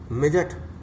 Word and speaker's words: midget: फिर चलिए मिजट, MIDGET, मिजट, मिजट माने बोना, तो डी इसमें भी साइलेंस वर्ड है।